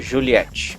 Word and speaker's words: Juliet: e também no já citado Juliet, na prática o pessoal normalmente pronuncia Juliette.